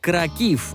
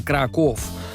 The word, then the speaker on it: Краків: користувачі мережі підкреслили що польське місто вимовляється як Краків а не Краков але то вже дрібниця